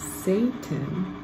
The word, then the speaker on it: Satan: the bread saved him that's another word we want to say the right way with a long a at the beginning of Satan entered into him him being Judas okay so now verse 30.